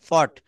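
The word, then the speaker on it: fought: এইযে যেমন এফ ও ইউ জিএসটি আমি এটা ফাউট বলেছি এটা আমি উচ্চারণ করেছি ফাউট নট রাইট স্পেলিংটা হবে ফর্ট কি হবে বলেন ফট এটা হবে ওই ফট এগেন্নিস্ট পাকিস্তান আমরা পাকিস্তানিদের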